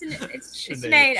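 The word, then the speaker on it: Sinéad: I said Sinhead O'Connor, and then I immediately knew that's not how you said it. Oh, God. I know that's not how you pronounce it. It's Sinead. I know it's Sinead.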